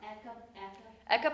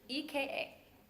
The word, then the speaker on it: Eka: I'm sorry, Eka, Ekapada is one leg or one foot. how, Ardha is half. how do you spell that again? EKA. EKA, like EKG.